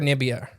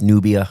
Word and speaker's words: Nubia: They were occupying uh lower Nibia. Nubia. I can't say it right. I think it's Nubia. I think that's it.